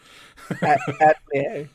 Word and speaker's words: atelier: Atelier? Yeah, it's French. You don't pronounce the R on the last one. Atelier.